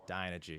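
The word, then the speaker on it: Dynegy: Is that pronounced correctly? Dynergy.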